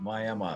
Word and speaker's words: Miami: It's spelled Miami, but we pronounce it Miami. So you can tell the locals and the out-of-towners by how they pronounce that.